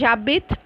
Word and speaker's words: j'habite: So here abite, you are not going to put the J and abit because H is silent followed by a vowel. So it has to be J apostrophe. Clear? So it is jabit.